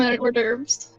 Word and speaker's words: hors d'oeuvres: Can you get me some hors d'oeuvres? Some of what? Hors d'oeuvres. How do you Hors pronounce it again?